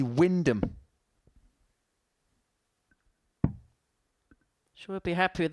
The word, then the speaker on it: Wymondham: I thought it was Wymondham. It's actually Wyndham.